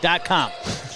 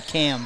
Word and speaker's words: Kamm: He goes like .com, because it's K-A-M-M. I would not think Kamm would be how you said that. I thought maybe Cam, but .com makes it very simple.